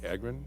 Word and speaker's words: Agran: I sat next to Irvine's mayor, Larry Agran. Is that how you say his name? Aren. Aren. Thank you.